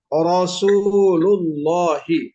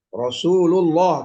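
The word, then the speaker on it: رسول الله: Nah ini ro yang harokatnya fathah, dibacanya Rasulullah. Nah, kebetulan lafzul jalalah juga dibaca tafkhim nih atau taglid karena didahulukan oleh huruf berharokat dhammah. Rasulullah, tidak boleh dibaca Rasulullah, jangan. Apalagi Rasulullah, jangan.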